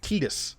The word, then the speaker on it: Tidus: My name is Tidus. I said it right. And yes, I'm going with Tidus.